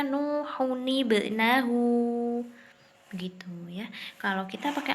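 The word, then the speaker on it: نُوحٌ ٱبْنَهُۥ: Ya, kalau kita nggak terbiasa pakai Al-Quran Utsmani, pasti bacanya jadi nuhub ya. Padahal bukan, bacanya harusnya nuhunibnahu.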